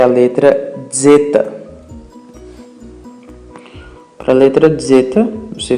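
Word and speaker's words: ζῆτα: Zeta tem esse som de D e Z juntos. O som, portanto, não é como se você falasse zeta, ok? Não pronunciem assim, na verdade pronuncie da forma correta, zeta, zeta.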